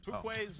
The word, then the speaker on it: Fuquay: Fuquay's Arena, North Carolina. How do you say that? Again? Fuquay Arena. Fuquay's Arena.